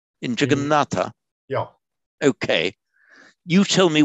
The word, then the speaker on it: Jagannath: So the dental T assimilates to the dental N, Jagannatha. In modern Hindi, a final a is not pronounced. So in modern Hindi, it's Jagannath. And it got anglicized to juggernaut, which is how that word has come into English.